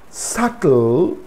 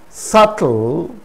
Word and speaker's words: subtle: is used before t there are a few words in which the b is silent before the letter t these words are date date it's not debt debt doubt subtle subtle it's not subtle subtle